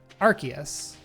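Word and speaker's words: Arceus: in Legends is the Ars phone or the Ark phone? Also second second thing um the ability of Sell Valley is RKS system which is supposed to sound like Archus RKS.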